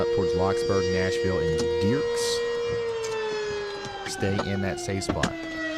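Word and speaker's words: Dierks: They really want you to know Dirks, Arkansas is pronounced Dirks.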